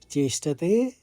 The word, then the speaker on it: चेष्टते: उच्चारण आएगा अनुस्वार में सदिश चेष्ट ते हल्का सौ का घत लेंगे त के साथ चेष्टते फिर स्वस्याफ स्वस्याफ तो